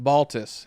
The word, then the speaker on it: Baltes: Tim Baltes? Baltes, yeah. Baltes. Baltes. Yeah, I bottled it. Yeah, he got it wrong. That's most people get it wrong.